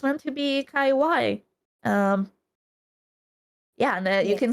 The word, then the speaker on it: Kaiwai: like kaiw even though a lot of people mispronounce it as tenshi kawaii but it's it's meant to be kaiw um yeah and you